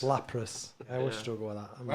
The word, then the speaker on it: Lapras: How do you pronounce it? Lapras. Lapras.